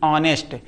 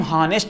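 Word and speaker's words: honest: ऑनेस्ट। इसको हम हॉनेस्ट नहीं कहते।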